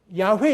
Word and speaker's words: 야훼: 그래서 비슷하게 한번 읽어보자. 야훼 이렇게 읽는 거예요.